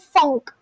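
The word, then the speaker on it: phonk: It's called funk. You guys know it's it's spelled out as P H O N K.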